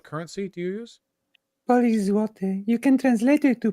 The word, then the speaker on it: złoty: How do you pronounce what currency do you use? Polish złoty. You can translate it to Polish goldens, basically. Polish złoty? Zloty.